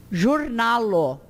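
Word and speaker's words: ĵurnalo: E o J com acento tem o som do J mesmo. Jornalo.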